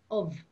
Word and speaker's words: ubh: word for egg is of of and if you saw that in writing it would be ubh because bh makes a v sound actually because when you